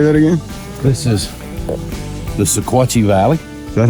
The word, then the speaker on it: Sequatchie: This is the Sequatchie Valley.